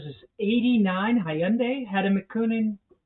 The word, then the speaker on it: Hyundai: Yeah, it rhymes with Sunday. But a lot of people say Hyundai, Yandee, Hyundee.